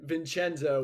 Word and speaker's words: Vincenzo: Vincenzo would be the Italian way of pronouncing it.